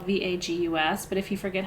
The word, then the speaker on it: vagus: your body called the vagus nerve it sounds like the city vegas but it's not spelled that way it's spelled v-a-g-u-s but if you forget